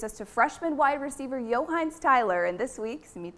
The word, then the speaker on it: Yo'Heinz: I'm Mark Walton, this is Josh Miller, and we're here with Johannes Tyler. That's how you say it, right? Yeah. Yes. And no, that is not a name of a ketchup.